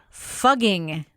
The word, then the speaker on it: Fugging: will now be called Fugging. The F word has no meaning in German, and fugging is pretty much the way the townsfolk have pronounced it for the past 1,000 years.